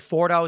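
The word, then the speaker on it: Fordow: So the question I have then is we've we've heard that Iran has it's the the I believe Fordo is how it's pronounced this deep underground nuclear enrichment facility.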